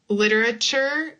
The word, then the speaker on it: literature: And this is one also that like I talked about literature we have nature literature nature we have that chure here like church literature nature church literature